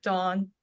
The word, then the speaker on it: Daeun: Yeah, my name is pronounced like Dawn, like Dawn.